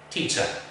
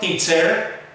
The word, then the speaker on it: teacher: And finally, let's look at the word which has a schwa at the very end. Teacher. Not teacher, teacher.